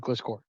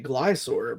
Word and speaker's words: Gliscor: I just say Glysaur, but I don't know. I always say Glysaur like as if the C was silent.